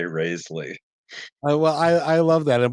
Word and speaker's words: Rasley: Well, phonetically, it should be Rasley, but my family, for the most part, at least when they're sober, sa pronounce it with the long A, Raisley.